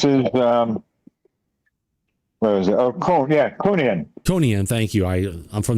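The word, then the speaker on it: Kuhnian: Now, Mike, how do you pronounce this again? Kunian? Yeah, this is, where is it? Oh, Kunian.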